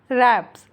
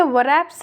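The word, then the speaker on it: wraps: Keep it under रैप्स। W silent होता है, इसलिए हम इसे वरैप्स नहीं रैप्स पढ़ते हैं।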